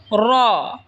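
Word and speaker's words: ر: উচ্চারণ হবে এরপর হল র জিহবার আগার পিঠ তার বরাবার উপরে তালের সঙ্গে লাগায় উচ্চারণ হবে র এরপর হল ছা জিহবার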